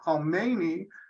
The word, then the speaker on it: Khomeini: And right there, I want everyone to get the difference in pronunciation. Khomeini does not equal Khamenei, and that'll be one of the test questions at the end.